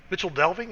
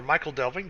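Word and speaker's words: Michel Delving: The chicken run is a quest you pick up in Mitchell Delving or Michael Delving, depending on how you want to pronounce it. I think it's Mitchell Delving, isn't it, Dantashin?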